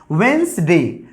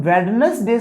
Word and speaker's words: Wednesday: बट इसमें हम लोग इसको वेंसडे या हम लोग इसका प्रोनाउंसिएशन वेंसडे करते हैं, बट हम लोग इसका प्रोनाउंसिएशन वेडनेसडे सही नहीं होता है, वेंसडे या हम लोग वेंसडे करते हैं गाइस।